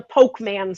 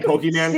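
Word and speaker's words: Pokémon: if I'm not mistaken, in the Pokeman sets. in the Pokemon. Don't say no. I listen. No, it's me. Say it right.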